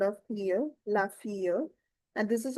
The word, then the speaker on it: fille: The daughter is la fille because of the exception of the silent double syllable of L. We'll connect the sound of fille, la fille.